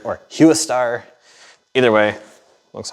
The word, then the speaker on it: HWSTAR: headlights so these are I think it's pronounced HW star cuz star is a recognizable word or hu star either way looks like